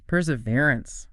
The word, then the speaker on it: perseverance: Perseverance. Wow, it's a long word. 5 syllables.